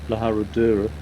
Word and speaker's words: La Herradura: I spent ages calling it La Herradura basically, and it still takes me a long time to pronounce the name of this place so properly. La Herradura.